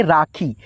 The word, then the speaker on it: राखी: देखिए दोस्तों राखी है, तो यहाँ पे आप इसको पढ़ेंगे राखी, तो इसमें जो है ना बड़ी ई की मात्रा का उच्चारण खींच करके होगा, तो यहाँ पे आप